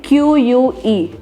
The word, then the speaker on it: CUE: यूज़ करें QUE, तो CUE is known as Q एंड QUE is also known as Q, तो उसमें भी आपका कोई डिफरेंस नहीं आ सकता। अगर कोई बोले कि CUE रजिस्टर्ड है, हमें तो QUE चाहिए, बट प्रोनाउंसिएशन इज़ सेम, तो वो आपको नाम नहीं मिलेगा।